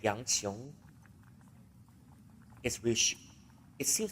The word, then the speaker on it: 杨琼: Okay, I keep pronouncing his name wrong all the time, and I think I owe him an apology.